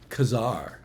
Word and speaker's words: Ka-Zar: The Barbarians was uh Kazar or Kazar as we've all learned to pronounce it once we learned how Stan Lee pronounced it but I think Kazar